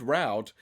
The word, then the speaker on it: route: uh let's see well according to my one search on google the word root route can be pronounced as either root or route in the u.s well that's just not